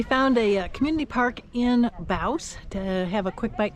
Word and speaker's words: Bouse: The town's called let's see, it rhymes with mouse, so Bouse.